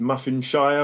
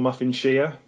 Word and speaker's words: Muffinshire: But you could also pronounce it Muffinshire, as in a shire horse.